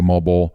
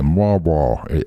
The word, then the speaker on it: Moalboal: So off to Moalboal, and that's spelled Moalboal, Moalboal, and we've heard it pronounced so many different ways. The American way, it looks like Moalboal, but it's like Moalboal.